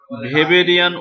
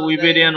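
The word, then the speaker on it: Weberian: তো জার্মানিতে কি বললাম, এই ডাব্লুর উচ্চারণ ভি হয়, তো সেখানে আবার তারা বলে ভেবেরিয়ান ওসিকল, দুইটাই সঠিক, ঠিক আছে।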